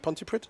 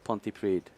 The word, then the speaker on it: Pontypridd: Pontypridd? Pontypridd. Pontypridd.